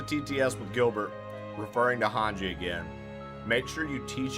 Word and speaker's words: Hange: If anybody does a tts with Gilbert referring to Hanji again make sure you teach him how to pronounce it.